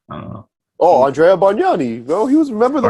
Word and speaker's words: Bargnani: This next one, Andrew Barganali. I don't know how do you say his name? Barganali. Never. I don't know. Oh, Andrea Bargnani, bro.